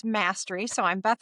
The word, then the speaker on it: Mastre: It's Mastery. So I'm Beth Mastery. It's not quite exactly spelled like mastery, but that's how it's pronounced.